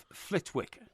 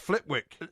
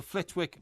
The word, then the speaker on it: Flitwick: And it's not pronounced Flitwick. The hotel, I know, because I rang them up, is called the Flitwick Manor Hotel.